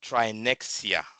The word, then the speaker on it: Trinexia: I really appreciate like you said, the company is pronounced Trinexia. Okay? It's very simple. Uh, Trinexia Africa. So, the X is pronounced as if it's an S.